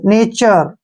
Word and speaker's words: nature: जब भी लास्ट में URE आता है तो उसको हम आर पढ़ते हैं।